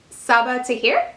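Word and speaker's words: Sabaa Tahir: and say an ember in the ashes by saba tahir is that how you say it yes number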